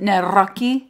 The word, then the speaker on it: Nawrocki: It's actually pronounced Nawrockki, as he's going to explain on the podcast.